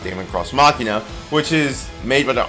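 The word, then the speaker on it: Daemon X Machina: or Damon cross machina isn't properly pronounced Damon cross machina which is made by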